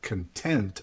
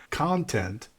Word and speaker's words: content: Content is a very interesting word because if you change which syllable you emphasize, in which case, instead of content, I say content, content becomes what something is filled with.